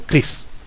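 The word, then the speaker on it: Krst: era el cris untado eso se escribe k r s t untado qué significa se lee como cris y de jesús el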